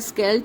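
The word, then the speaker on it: Scheldt: अब जो हम जा रहे हैं, यहाँ की बड़ी फेमस रिवर है, उसका नाम है स्केल्ट। स्पेलिंग अलग है, बट वो प्रोनाउंस ऐसे ही होती है।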